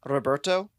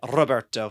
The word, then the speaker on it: Roberto: fun to be able to say Roberto to roll your R with his name. Roberto.